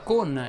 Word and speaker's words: con: Ho usato molte volte la parola con e alcune volte la parola non. Entrambe vanno pronunciate con la O chiusa.